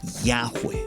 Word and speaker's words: Yahweh: Y vabhe, la pronunciación más antigua que creemos poder reconstruir con bastante certeza sería Yahweh, que significa aquel que es.